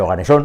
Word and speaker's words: oganesón: a decir bien el oganesón y el oganesón hay que decirlo así con acento en la O con tilde porque pues los nombres